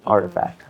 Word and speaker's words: RTFKT: internet username right so that's why it's rtfkt artifact I love the the